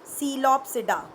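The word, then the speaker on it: Psilopsida: देखिए 4 क्लासेस हैं, सीलोप्सिडा, P silent, लाइकोप्सिडा, स्फीनोप्सिडा एंड टीरोप्सिडा, P silent.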